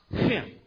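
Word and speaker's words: חן: You spell grace H-N. And it's pronounced Hin.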